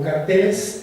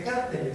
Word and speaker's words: carteles: Pues son una serie de organizaciones criminales que se le han conocido como carteles. Curiosamente en México se dice cárteles, se le pone este acento que viene de la pronunciación en inglés, pero bueno, aquí están los carteles o cárteles.